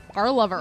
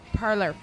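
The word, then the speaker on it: Parlovr: It With features Parlor. Parlover. No, Parlor. Parlor. Parlor. Is that how you pronounce it? Yes, Parlor.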